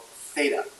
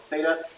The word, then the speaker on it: Theta: and that deals with this thing here called Theta so how do you pronounce this letter it's called symbol is called Theta it's a Greek letter comes from the Greek